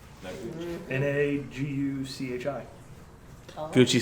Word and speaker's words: Noguchi: Like Gucci with "na" in front of it. Noguchi. Noguchi. Naguchi.